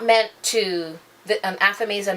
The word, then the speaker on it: athame: An athame is A-T-H-A-M-E. I've seen people pronounce it different ways. It's very hard for me to pronounce it that different way, other than what I know it to be, which is athame.